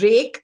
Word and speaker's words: Reick: His name is Rake, and it's spelled Reick.